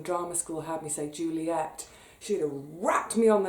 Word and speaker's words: Juliet: school had me so Juliet she wrapped me on the knuckles Romeo and Juliet Juliet to rhyme with Capulet or to scan with love it I've always loved it